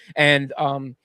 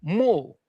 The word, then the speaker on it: mul: It's not pronounced An, it's Mul, and it's just you'll usually see 3 of those same.